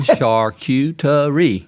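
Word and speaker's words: charcuterie: first of all you've got to help people pronounce it correct because they tear it up and i say slow down shark you to re you'll get it okay uh so i mean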